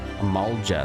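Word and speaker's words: Amalj'aa: beside our robes strangling the lifelines of trade amalga that's how you say that meanwhile the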